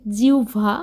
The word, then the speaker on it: জিহ্বা: কারণ যেটা রান্না করছি সেটার উচ্চারণ হবে জিউভা আমরা অনেকেই বলে থাকি জিহ্বা জিভ ইত্যাদি তো আমি আজকে রান্না